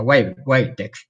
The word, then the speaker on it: Wabtec: Ahora me traes a la memoria, en los tiempos de Entel teníamos unos generadores americanos, marca Wabtec, bueno, se pronuncia Wabtec, W-A-B-Tec, ¿no?